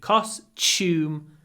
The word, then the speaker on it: costume: love your Halloween costume when you say costume you can pronounce Tu with a CH that's what I do costume costume costume my son